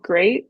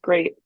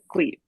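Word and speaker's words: GLEAT: going to be with this promotion it's called great they pronounce it as great um but it's spelled like gleeve a lot of people call it but it's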